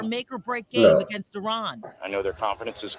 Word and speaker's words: Iran: reporter for mispronouncing Iran our country is named Iran not Iran who also questioned him